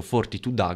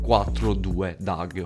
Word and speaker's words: 42 Dugg: pronuncia in questa maniera sono uno di quelli che ha sempre detto fortitudo ma mentre scrivevo questo video ho scoperto che invece la pronuncia e 42 dag for two in questa maniera lo sapevate scrivete melo sin da